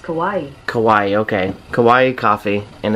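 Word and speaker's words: Kauai: can you pronounce k-a-u-a-i that's pronounced kawaii kawaii okay kawaii coffee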